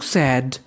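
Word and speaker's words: said: दरबार में गया, ही, एस ए आई डी, इसे पढ़ते हम लोग सैड, सैड, सैड का मतलब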